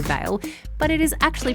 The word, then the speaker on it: vale: So you know when you're talking about someone who's died, it is spelled V-A-L-E, and I have heard quite a few people say Vale, but it is actually pronounced Vale.